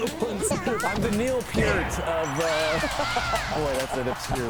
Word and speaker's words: Peart: But that's where you need to go if you want to Still reeling from your Neil Peart. That's how you pronounce it.